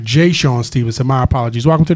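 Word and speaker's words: Je'Shawn: Hooper yeah yeah all right we got Mr Sean Stevenson am I pronouncing your name correctly Jason all right Jay Sean Stevenson my apologies welcome to the show sir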